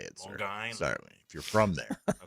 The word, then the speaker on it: Long Island: Long Island is how you say it, sir. Long Island.